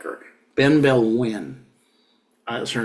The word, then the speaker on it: Benebell Wen: win that's her name Ben Bell win b n e b e l l Ben Bell Ben B Bell if you wanted to sound it out in English but it's a Ben e b e l l and wi is Wen so this is very